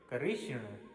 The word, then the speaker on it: कृष्ण: वाला री है अर्थात हिंदी और संस्कृत का उच्चारण पृथक पृथक होता है यह क्री नहीं यह करी है कृषण क के बाद ऋषि की मात्रा कृष्ण है यदि आप कहेंगे